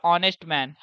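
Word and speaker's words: honest: ऑनेस्ट मैन। ऑनेस्ट मैन के लिए क्या यूज़ होगा? एन लगेगा। एच जो होता है यहां पे साइलेंट है।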